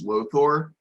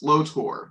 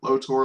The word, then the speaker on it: Lotor: oh I've been saying his name wrong. Lothor is the bad guy from Power Rangers Ninjastorm. Prince Lotor is a guy from is a bad guy from Voltron. Sorry, it's Lotor. Lotor Lotor.